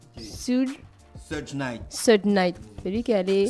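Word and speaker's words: Suge Knight: l'autre en fait ça pour la prononciation de son nom se night se night celui qui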